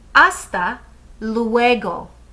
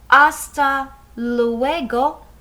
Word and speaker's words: hasta luego: the letter h well in spanish this h the h is silent so we don't hear it so when we say hasta luego we don't hear that